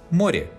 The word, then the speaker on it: море: In the final position, unstressed ye specifies a sound between e and i, or a very closed e. Море, море, платье, платье.